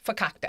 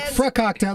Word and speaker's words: fakakta: Did I do it right? Yeah. No, fakakta. Fakakta. He never does it right. I say it like frakakta, like high fructose corn syrup.